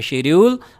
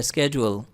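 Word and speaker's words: schedule: ये जो next word है शेड्यूल और ये है स्केड्यूल।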